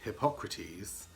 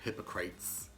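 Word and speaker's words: Hypocrates: that song track 11 is hippocrates or hypocrites as it is spelled a song about well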